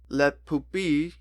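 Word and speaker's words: Le Pupille: uttered dog water but that's how you say it in French it's French it's the poopy because the i-l-l-e is like that you don't say ill it's it's not let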